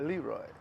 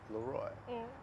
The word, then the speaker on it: LeRoy: my baby name wrong it's not Leroy it's looy but we have fun